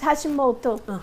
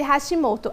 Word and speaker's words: Hashimoto: É assim mesmo, doutora, como eu pronunciei? Hashimoto. Isso, tireoidite de Hashimoto.